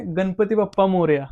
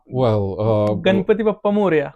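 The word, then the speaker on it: Ganpati Bappa Morya: In the Ganesha festival, we just say Ganpati Bappa Moria. Mm. Can you say it like this? Ganpati Bappa Moria. Ganpati Bappa Moria.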